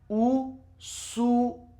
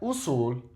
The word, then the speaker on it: usual: Usual. It's not usul, it's usual. I'm telling you, if you seriously just practice, you're going to have massively improve your pronunciation in Spanish.